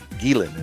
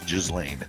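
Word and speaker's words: Ghislaine: Gilan is how you pronounce Jizlane.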